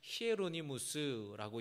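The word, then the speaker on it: Hieronymus: 이 제롬이라는 이름을 라틴어식으로 발음을 하면 히에로니무스라고 이야기를 하고요.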